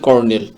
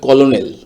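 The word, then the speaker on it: colonel: তো ভিউয়ার্স, স্ক্রিনে আপনারা প্রথম যে শব্দটি দেখতে পাচ্ছেন, এই শব্দটির উচ্চারণ হচ্ছে কর্নেল। তো আপনার এটা যে বানানের উচ্চারণ যদি সঠিকভাবে করতে চান তাহলে তার উচ্চারণ হবে কলোনেল।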